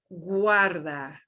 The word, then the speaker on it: guarda: and here we've got a G-U-A, and we're gonna pronounce all those vowels. So it will be U-A, U-A, U-A, guarda, Guarda.